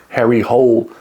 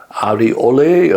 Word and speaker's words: Harry Hole: This is the latest Harry Hole detective novel, or Ari Ole, I think is the correct pronunciation of his name.